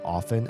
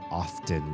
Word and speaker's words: often: words and they said often and I very distinctly notice the lack of T in their pronunciation and I was like that is so weird.